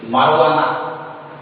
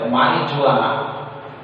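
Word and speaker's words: marijuana: गंजेई एटा news रे सुनुथबो film makers they are taking किछि news channel रे याको प्रोनाउंसिएशन करछथि मारुआना. याको आम भले इंग्लिश रे वाला कोन कहबे मारिजुआना ताको कहछथि मारुआना.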